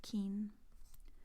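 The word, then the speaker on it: 金: It's typically pronounced as kin, so that's interesting as well.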